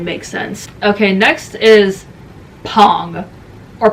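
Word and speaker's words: PANG!: Okay, next is Pong or Pang, however you want to pronounce it. The Korean pronunciation is Pong.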